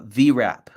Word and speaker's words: VRAP: have a pen and paper is called uh vrap okay v r a p Victor Romeo alpha